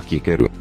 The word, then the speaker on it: Cícero: A letra C sempre funciona como a letra K. Por exemplo, Cícero se pronunciava Quíquero.